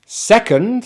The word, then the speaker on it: second: bird so we have er first first first second has two syllables the stress is on the first syllable